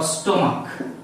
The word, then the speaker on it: stomach: Let's take an example of epoch or stomach, S-T-O-M-A-C-H. In these nouns, as in spite of having ch at the end of these nouns, as these pronouns as ko, not cho, you would simply add with them to make them plural.